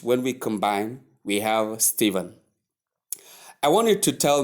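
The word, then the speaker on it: Stephen: Then um the last one being the 10th word is spelled S T E P H E N. S T E P H E N pronounced as Steven and the transcription is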